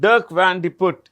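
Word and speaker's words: Dirk Van de Put: what's the name it's a very long name Durk van D put you can double check this okay it's right sounds weird but dark vanut is the CE of mandelis international Nestle uh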